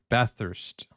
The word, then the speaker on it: Bathurst: Bathurst, Australia. Bathurst, New South Wales, Bathurst. Australia. It's a couple hours outside of... I'm sorry, I've been saying it wrong. Bathurst.